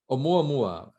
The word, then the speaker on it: ʻOumuamua: it will maya maya or how do you pronounce that o muammua uh it means a scout in the hawaiian